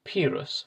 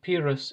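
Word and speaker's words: Pyrrhus: at this point that i've just discovered i've been saying that name wrong for the past few episodes i'm going to try and switch to the new pronunciation and just hope that this doesn't confuse you all too much but anyway pirus is the correct version not pirus as i've been saying but back to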